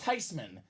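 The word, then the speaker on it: Theismann: she said nope no big deal it's actually pronounced tysman everyone's been living lie this whole time so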